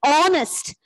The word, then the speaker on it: honest: the word as r here h is silent so we have to use article and before that word r even this word is pronounced as honest so we have to